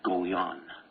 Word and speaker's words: Goljan: why I pronounce it go yan okay that's the Armenian pronunciation it's not gold